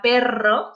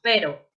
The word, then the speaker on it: perro: La R doble, que por ejemplo, cuando está en la palabra perro, se pronuncia fuerte y no decimos pero.